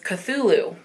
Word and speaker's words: Cthulhu: next one i actually decided i was going to look up the pronunciation and it is cthulhu so this is the one that i was like c-t-h-u-l-h-u so it's cthulhu so the title of